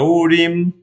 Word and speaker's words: Urim: Después sigue Ur, que se escribe así, Abshe sería como se pronunciaría, pero en realidad se pronuncia Urim. Urim fue derrotada.